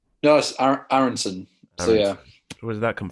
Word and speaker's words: Aaronson: aaron how did you pronounce it am i pronouncing it wrong yes aaronson so yeah where's that come from it's from